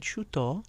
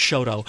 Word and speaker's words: Chouteau: So And I love the way you said Chouteau, yes, à la française. Oh, we it's unusual because normally for native St. Louisans, that's Shoto. Right, exactly.